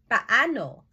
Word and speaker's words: paano: Take note of the pronunciation. When there are double vowels in Tagalog, you say each vowel sounds separately. Paano.